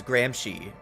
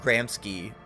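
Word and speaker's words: Gramsci: Apparently you you say his name is Grahamshy or Gy not Grahamsky but whatever.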